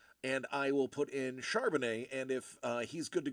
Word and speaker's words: Charbonnet: So I was like, ooh, my only other running back of note is Charbonnet or Carbonnet, however you want to pronounce it. I believe it's traditional French way would be Charbonnet.